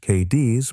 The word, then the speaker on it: Cadiz: She had grown up in a small town in western Kentucky called Cadiz, pronounced KD's by everyone who lived there, which confused every person who had ever driven through.